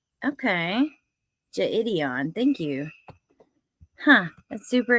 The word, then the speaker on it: Jidion: Hey, Twisted Black pronounced Jidion. Okay, Jidion.